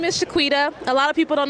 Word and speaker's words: Shequeta: a kebab you know so my name is shaquita a lot of people don't know how to pronounce it so i added to the to the end of its own Facebook I'm shaquita some people can pronounce my name correctly